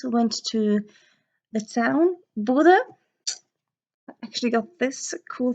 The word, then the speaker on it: Bodø: That's Norwegian letter, but it's Bodø, or it's written Bodø, but us Bodøværings usually pronounce it Bodø with an E instead, cause we're quirky.